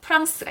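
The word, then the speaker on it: France: 대표적인 예로 프랑스가 있어요. 프랑스. 그 끝에 있는 E가 이제 S랑 만났기 때문에 발음이 프랑스가 되는 거죠.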